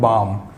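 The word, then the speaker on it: balm: Friends इन words को ध्यान से देखिए कि वर्ड लिखा हुआ है बाम, इसका जो प्रोनाउंसिएशन है वो होता है बाम। एल जो है इसमें साइलेंट रहता है तो हम इसको बाम प्रोनाउंस करते हैं।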